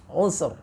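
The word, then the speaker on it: عسر: Kalau kita sukun di situ, usr, ya, usr. Jadi ain sin, ainnya sinnya sukun lagi, ra-nya sukun karena waqaf.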